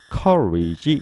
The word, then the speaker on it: courage: 우리가 어떤 사람이 용기가 있다 그럴 때 용기 courage 이렇게 말을 하죠. 앞에 있는 COU 그러면 call 뒤에 있는 R-A-G-E 그러면 rage, rage 그래서 courage, courage, courage 이렇게 읽고요.